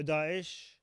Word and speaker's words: Daesh: Did I pronounce that wrong? Probably. Daesh, yeah.